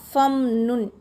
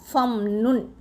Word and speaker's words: فَامْنُنْ: இந்த ஃபாக்கு பக்கத்தில் உள்ள அலிஃபு சும்மா டம்மி, அதை நம்ம உச்சரிக்கக்கூடாது. ஃபம், இந்த ஃபாவை வந்து ஃபத்தக செய்யப்பட்ட ஃபாவை வந்து இந்த மீம் சுக்குன் செய்யப்பட்ட மீமோட போய் சேர்த்துக்கணும். ஃபம் நுன் அப்படி தான் படிக்கணும்.